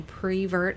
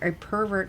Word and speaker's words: pervert: I am not a as you say, a prevert. A pervert, by the way, is the correct pronunciation.